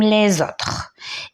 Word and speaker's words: les autres: Et comme vous m'avez bien entendu, j'ai dit les autres. On fait la liaison et on a prononcé Z. Pourquoi? Parce qu'il y a un E avant et un A après la lettre S. Et lorsque S se place entre deux voyelles, on la dit ou bien on la prononce Z.